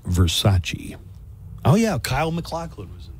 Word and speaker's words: Versace: girl and she couldn't say Versace Versace ver pronounced Versace oh yeah Kyle mclin was in Gina Gerson